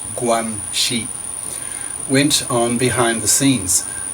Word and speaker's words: guanxi: I am strongly suspicious that some string-pulling, guanxi, pronounced guanxi, went on behind the scenes.